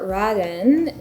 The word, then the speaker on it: Raden: out by talking about the Raiden technique on these pens or raden how you would pronounce it in Japanese but Raiden is the process of